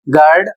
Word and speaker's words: guard: जैसे यहां पर शब्द है जी यू ए आर डी। इसे पढ़ा जाएगा गार्ड और इसकी हिंदी होती है रक्षक।